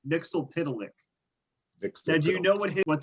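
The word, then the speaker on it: Mxyzptlk: Mitzelplitz. Mitzelplitz. I'm going to accept that, yeah. I wrote down a pronunciation guide for myself. It's Mixelpidalik.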